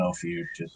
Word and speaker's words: Ophiuchus: But I'll give Sean Carpenter the love and say Constellation Ophiuchus.